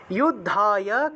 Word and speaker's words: যুদ্ধায়: তস্মাদ উত্তিষ্ঠ কৌন্তেয়, কৌন্তেয় যুদ্ধায় কৃতনিশ্চয়ঃ, যুদ্ধায় উচ্চারণ হবে যোদ্ধায়, কৃতনিশ্চয়ঃ, বিসর্গ থাকায় হ উচ্চারণ।